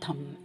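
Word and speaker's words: thumb: ஸோ இப்போ கையில் விரல்கள் சொல்லும்போது தம் சொல்கிறோம், அதில் பி ப்ரொனவுன்ஸ் பண்ணக்கூடாது. அது கூட பாருங்கள், தம்புன்னு சொல்லக்கூடாது, தம்.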